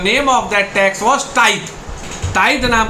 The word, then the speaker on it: tithe: टाइथ नाम का कर, TITHE। अब इसको आप लोग प्रोनाउंसिएशन में तिथे पढ़ दीजिएगा, लेकिन प्रोनाउंसिएशन तिथे नहीं होगा, प्रोनाउंसिएशन होगा टाइथ।